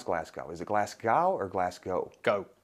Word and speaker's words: Glasgow: Is it Glasgow or Glasgow? Go. Glasgow. Yeah. As in Pascoe.